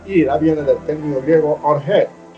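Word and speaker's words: ὀργή: La palabra ira viene del término griego orge. Tiene acento en la E.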